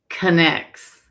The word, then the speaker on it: Connex: It's Connex.